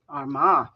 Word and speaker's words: Armagh: Armagh.